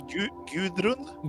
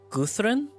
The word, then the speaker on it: Gudrun: It's pretty close, but I think the D is like a TH kind of. Guthrun?